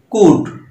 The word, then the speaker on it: could: এল ডি আছে লাস্টে, তাহলে এখানে ডি এর উচ্চারণ নাই। কুট, সি ও ইউ এল ডি কুট, তোমরা জানো